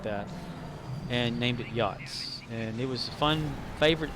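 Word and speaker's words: Yotz: of that nature well i wanted to use yachts y-o-t-z that's how this is spelled yachts but it said it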